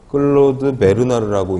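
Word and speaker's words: Claude Bernard: 다 항상성에 들어가는 내용이어서 이름 중요하니까 클로드 베르나르라고 읽는다고 하더라고요. 프랑스 사람이어서 이 사람 연도까지는 아니지만 이름하고 항상성, 클로드 베르나르는 항상성, 이런 식으로 꼭 알아두시면 좋습니다.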